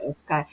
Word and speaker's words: Escayg: let's tell people who Escagy. Am I pronouncing the last name right correctly? Yeah, Escagy.